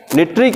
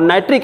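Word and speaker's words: nitric: निट्रिक acid और नाइट्रिक acid, जो भी प्रोनाउंसिएशन करिए, निट्रिक एसिड.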